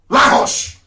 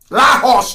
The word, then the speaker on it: Lagos: Lahos. Lahos, that's the correct pronunciation.